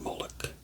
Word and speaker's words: Molech: jewish community and so the ch is really it's a sound sound so really i say molok because that's kind of how americans say it um but it's really